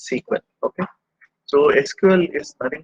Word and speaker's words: SQL: learn in sql sql so normally we will pronounce it as sequel okay so sql is